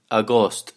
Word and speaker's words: agosto: does get swallowed it's it's written Agosto AG o sto a ghost is what you'll hear September September